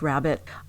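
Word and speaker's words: rarebit: and tomato cups yum rare bit I make that every Easter it's pronounced rabbit for a minute there Trader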